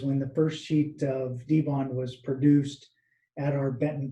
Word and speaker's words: Dibond: where we make it there is a pronunciation that we typically use and that is the the d-bond uh a lot of people in the market have called it die bond um for us it's